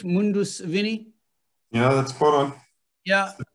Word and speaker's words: Mundus Vini: a bottle of each of the, am I pronouncing it correct, Mundus Vini?